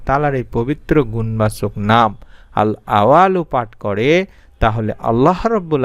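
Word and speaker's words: الأول: আমি সংক্ষেপে তুলে ধরছি উচ্চারণটি আমি আবারো দেখায় দিচ্ছি বাংলা আল আওয়ালু আল আওয়ালু এইভাবে আপনাকে পড়তে হবে এই নামের অর্থই হচ্ছে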